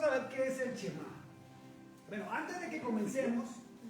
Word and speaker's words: Shema: Shema. Entonces, lo diga con E o lo diga sin E, es lo mismo en la pronunciación.